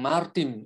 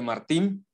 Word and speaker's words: Martín: Pero alguien del centro, como por ejemplo el jugador de las Águilas del América, que es Henry, dicen Martin en vez de Martín, y no siempre le dicen Mesh, le dicen Mex, porque así se apellida este jugador.